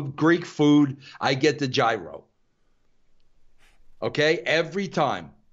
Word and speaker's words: gyro: food, I get the gyro. Okay? Every time. Right. You might call it a euro. I call it a gyro. That's how it's spelled.